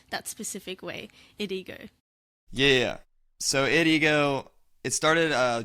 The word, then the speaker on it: IDEGO: I'm joined by Christian hip-hop producer, IDEGO. How are you, bro? There we go. I'm good. You got the pronunciation So good.